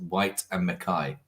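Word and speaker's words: Whyte & Mackay: it before and someone's just said it's actually pronounced white and Mai mik maai in a sense like if you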